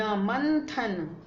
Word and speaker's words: मंथन: संत, मंथन, ये थ है, और थ का पंचम वर्ण क्या होता है, जी हाँ न, इसलिए इसका उच्चारण होगा न, मंथन।